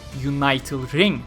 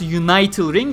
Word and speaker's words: Unital Ring: series, Sword Art Online Unital Ring. Yes, it is pronounced Unital Ring because it comes from the word unite, so it is not Unital Ring or anything.